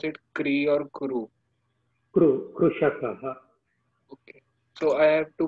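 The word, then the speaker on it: कृषकः: Kru, Krushakaha. Okay. So I have to pronounce my name as Mama.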